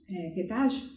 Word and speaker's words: pedágio: Pedágio. Pedágio. See, if you want good treatment, you have to pay pedágio.